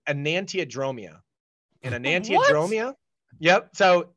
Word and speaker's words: enantiodromia: And it's actually phonetically spelled exactly as a, so the word is enantiodromia.